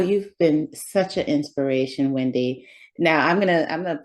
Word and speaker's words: Wendee: of my Broadway friends call me Wendy double e because my name is spelled w-e-n-d-e-e so the double e replaces the Y my name is full